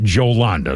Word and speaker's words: Jolanda: Now, it's spelled with a J, J O L. Uh, normally that's pronounced Yolanda, but apparently she pronounces it Yolanda.